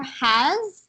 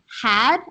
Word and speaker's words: has: So, for has right here, I think you kind of pronounce it more like had, as if there was like a D, but it's has, and the S has to be like s. So has. Oh, Has. not an S actually. It's more a Z sound.